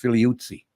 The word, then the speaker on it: Figliuzzi: You know, I grew up Catholic, Frank, so I thought your name was pronounced Figliuzzi. Oh, now you've got a true Italian pronunciation there, which is accurate, but only going to confuse people.